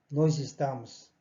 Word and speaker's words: nós estamos: 모음과 모음 사이에 올 때 s는 z 발음 나게 되어 있습니다. 그래서 이것도 마찬가지. nós estamos. nós estamos. 이렇게 발음이 안 됩니다. 또박또박 할 때는 물론 그렇게 하지만 일반적으로 대화를 할 때는 nós estamos. 이렇게 발음이 됩니다.